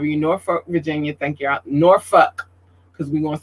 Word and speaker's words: Norfolk: Norfolk, because we're going to say it right.